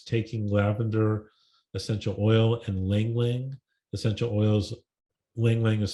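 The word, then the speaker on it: ylang-ylang: favorites is is taking lavender essential oil and lingling essential oils Ling Ling is spelled y-l-a-n-g-y-l-a-n-g I've been giving my husband nitric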